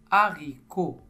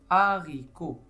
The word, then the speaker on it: haricot: Omar la deuxième image haricot haricot haricot la syllabe en bleu c'est a h a haricot comme on avait vu le H ne se prononce pas et ça c'est un